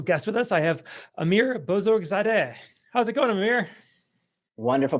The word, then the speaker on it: Amir Bozorgzadeh: a very special guest with us i have amir bozorzadeh how's it going amir wonderful pronunciation we practiced before and you did it